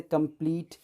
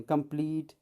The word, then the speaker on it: complete: जैसे कंप्लीट, यहाँ लास्ट में ई है, ये साइलेंट होगा, बट उसके पहले एक ई है तो इसे हम ई के साउंड देंगे। कंप्लीट, सीड, कंसीड, मीट, ये वर्ड थे।